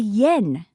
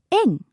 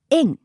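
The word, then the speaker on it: 円: up when shopping now in English we refer to the Japanese currency as the Yen but in Japanese we actually call it in it's a much lighter sound in now the foreign exchange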